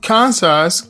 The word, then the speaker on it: Kansas: tribe of native americans kansas comes from the native american cancer tribe cancers is derived from the so on phrase kazi which refers to the cancer tribe the s is pronounced because cancer is an